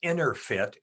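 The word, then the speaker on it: EnerPHit: It's called InnerFit, but the fit is spelled PHIT, so it's Inner PHIT.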